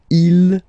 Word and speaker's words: ils: Okay, so you can notice that even if you've got this S at the end, and then here you don't have anything, well, you pronounce them the same way. Okay, il, singular form. Il, plural form.